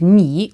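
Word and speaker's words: 你: You informal is ni, with the falling rising pronunciation again.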